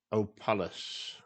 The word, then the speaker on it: Opalus: It's Opalus, okay? That's the way I pronounce it. It is like a palace as well.